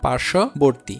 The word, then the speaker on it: পার্শ্ববর্তী: যেমন দেখো পার্শ্ববর্তী, এখানে ব ফলা থাকার কারণে তালবস্য দুইবারও উচ্চারণ হচ্ছে না, আবার এই ব ফলা উচ্চারণ হচ্ছে না।